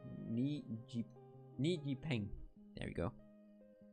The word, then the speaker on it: Ni Yipeng: Today we're making this very cool orc from made by, just checking again that I pronounced it right, Ni Yipeng. There we go. Ni Yipeng.